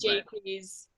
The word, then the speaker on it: Jacques: pronounced Jaques.